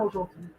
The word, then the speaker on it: aujourd'hui: Aujourd'hui, right? Aujourd'hui. So you're breaking it down into three syllables here.